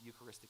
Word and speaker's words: Eucharistic: I think it's because we use the Eucharistic, 4 syllables, that's a big word.